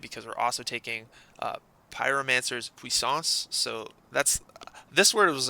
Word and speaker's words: Puissance: we're also taking Pyromancer's Puissance. So that's this word was annoying. I had to look up how to say it because it's actually just a French word.